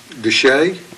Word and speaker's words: Desha: and then uh 910 Heber Springs Road at Deshay Deshay yes sir what about Batesville that's Batesville to say it's spelled the show d-e-s-h-a all right is that